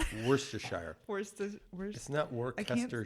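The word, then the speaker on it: Worcestershire: can we're just saying again don't look at how it's spelled worse to Shire where's the weirdest Network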